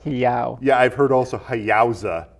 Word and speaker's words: Hayao: Is that how you pronounce his first name? Hayao. Hiyao.